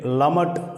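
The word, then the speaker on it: למד: இந்த எழுத்தை லமட் அப்படின்னு உச்சரிக்கிறோம்.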